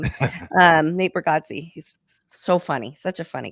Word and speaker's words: Bargatze: It was Nate Bargatze.